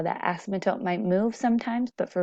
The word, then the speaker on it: asymptote: There's also this unique characteristic about it called an asymptote. That's a weird word right there. Asymptote. The P is silent.